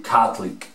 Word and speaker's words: Catholic: Vamos a borrar la O y vamos a decir Catholic, Catholic, Catholic, Catholic por Catholic.